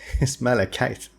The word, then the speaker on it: malachite: It's malachite. Thanks, somebody told me, hey, you pronounce it incorrectly.